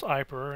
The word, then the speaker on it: Aiper: I asked how it's pronounced Aiper, and it's with the I.